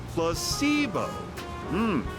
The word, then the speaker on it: placebo: words to our vocabulary today repeat after me placeo H the stress is on the middle syllable very good your figing interest well a